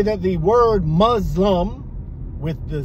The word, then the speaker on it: Muslim: So the word Muzlum is in the dictionary. And I don't even need to go look, but I'll post it above me. And as you'll see, it says Muzlum.